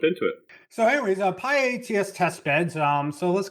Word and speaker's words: pyATS: thing we want to say is that it's pronounced Pi like a pi ATS so it's not pi x or anything like